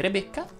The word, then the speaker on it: Rebecca: lei va aperta se ti chiami rebecca line va chiusa se ti chiami stella